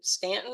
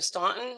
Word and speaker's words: Staunton: And she served as a dean when she was a dean at Mary Baldwin, which is in Stanton or Staunton, however you want to pronounce it.